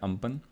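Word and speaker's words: Amphan: अब why this topic is important for prelims, because in the year 2020 cyclone अम्पन, ठीक है, इसको pronounce करते हैं अम्पन, was formed over the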